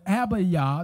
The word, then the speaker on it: Abijah: father died abasha ab abijah when abba yah that's really how is pronounced in its original language when abijah uh abba